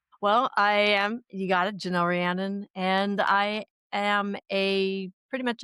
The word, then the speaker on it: Rhiannon: many times in my head, I'm going to mispronounce it. So give us your full name, Janelle. Janelle Rhiannon.